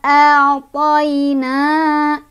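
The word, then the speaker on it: أعطينا: Jadi ini cara bacanya dilunakan ya. Lunak tuh toi kayak gitu ya cara bacanya. Toi, nggak usah dipanjangin kalau nggak berhenti. Jadi lanjut aja toi gitu. Inna a'tayna.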